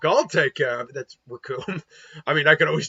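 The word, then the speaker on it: Recoome: ready to rumble because the name's raccoon and it rhymes with doom and you're gonna be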